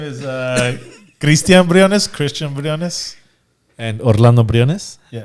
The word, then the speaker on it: Briones: Briones. Briones. Yeah, Briones. Yeah, Right. You yeah. said it perfect. Briones. Exactly, accent and all. Christian can say it. Christian. Yeah, my name is Christian Briones, Christian Briones.